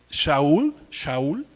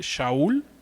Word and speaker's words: Shaul: El nombre de Saúl viene de la palabra hebrea que se pronuncia Shaul, así como se oye, Shaul, y significa deseado o implorado.